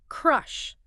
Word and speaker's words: crush: It's a sharp, short strut vowel. Crush. It's punchy, crush, like the action.